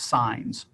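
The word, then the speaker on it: CIHNs: This evolution takes the form of Community Integrated Health Networks, or CIHN, pronounced as SIGNs. If the acronym SIGNs is new to you, it won't be for long.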